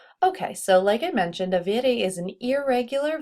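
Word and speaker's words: hai: two form is I once again with a completely silent h so e o i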